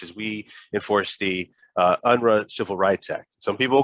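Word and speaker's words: Unruh: head of dfeh is we enforce the uh unru civil rights act some people call it unreal civil rights act but i i i i believe the correct pronunciation is unrun named after jesse under the state legislature civil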